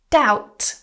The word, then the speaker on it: doubt: Doubt. Silent B.